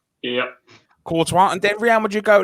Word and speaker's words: Courtois: Is that how you pronounce his name? Yep. Courtois.